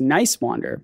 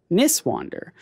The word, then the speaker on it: Nicewander: even though I know our last name is pronounced Nicewander, most people pronounce it Niswander.